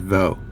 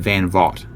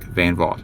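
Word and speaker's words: van Vogt: Uh I I said I always pronounced it VO with a silent GT.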